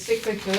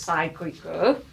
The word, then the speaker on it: cyclical: I pronounce it as cyclical. Some students like to pronounce it as cyclical. You could do it either way.